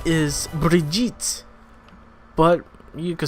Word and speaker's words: Brigitte: Her name is Brigitte, but you could say Bridget. At the end of the day, nobody's going to pronounce it with the accent. Even though there's no D in the word, they're going to still pronounce it Bridget.